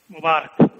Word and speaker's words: Mubarak: Mubarak. Okay, I didn't quite get the pronunciation, but I believe you.